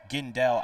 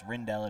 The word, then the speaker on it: Gendell: Rel down for Moa gendell I just I just realized I have been pronouncing gendell's name wrong and I would like to apologize I've been pronouncing it as rindell it is gendell gendell gets the takedown